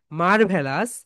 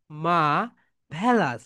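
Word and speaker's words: marvelous: okay my dear soldiers আমরা বাংলাদেশের এটাকে বলে বলি মারভেলাস মারভেলাস কিন্তু এটা রাইট প্রোনাউন্সিয়েশন কি বলতো মাই ডিয়ার সোলজারস মা সবাই বল মা মা ভেলাস সবাই একটা করে ক্লাপ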